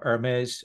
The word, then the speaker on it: Hermes: is there uh uh Hermes uh naseda Hermes is that your name am I saying it right Hermes yeah yeah yeah okay